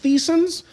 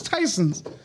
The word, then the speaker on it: Tysons: i called it like thiessen's because i don't know how you said it no somebody said yeah it's tyson's i was like what it was like yeah it's pronounced tysons yeah that's like i